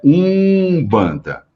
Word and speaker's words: mbanda: um banda Só que a pronúncia quando aá a palavra ela escrita com m ou com n eu vou pronunciar com u sempre então é um banda então a pronúncia é